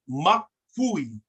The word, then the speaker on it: makui: So the K is pronounced on the left, but the KW is pronounced on the right.